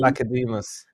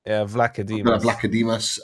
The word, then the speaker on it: Vlachodimos: I do think, regardless of whatever fees we get for your goalkeeper, is it, how do you pronounce his name? Vlachodimos. Vlachodimos.